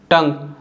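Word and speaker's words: tongue: और अगर आप लीक और टंग को रीड करोगे तो देखिए इन दोनों में यू तो साइलेंट है लेकिन जो लास्ट में ई आ रहा है ई भी साइलेंट है, यानी लीक और टंग में दोनों में यू और ई लास्ट में दोनों साइलेंट है, ठीक है।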